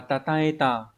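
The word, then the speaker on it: 称えた: Số 1 đọc là tataeta.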